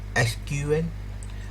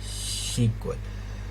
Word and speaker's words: SQL: एक है एसक्यूएल और दूसरा है सीक्वल। दोनों ही बोलने का तरीका या प्रोनाउंसिएशन इंडस्ट्री ऑर्गेनाइजेशन में वाइडली एक्सेप्ट की जाती है।